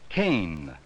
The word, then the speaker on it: can: word yes it's can there is no final e so a has the short sound spell it with me